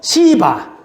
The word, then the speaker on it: 시바: 근데 그래서 아까 우리가 읽었던 이 사울의 시종이었던 발음에 유의하세요. 시바.